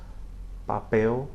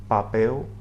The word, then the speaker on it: papel: Again, the letter P is pronounced similarly as it is in English, maybe with a little bit less explosive puff of air at the beginning.